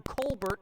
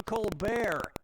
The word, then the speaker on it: Colbert: Okay, so Stephen Colbert of the Colbert Report changed the pronunciation of his name from Colbert to Colbert, and that's how he became rich and famous.